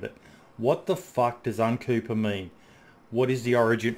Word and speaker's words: Uncuepa: And I just started writing down syllables on a notepad and throwing them together, and I liked the sound of Uncuepa, and I just spelt it like that for some reason.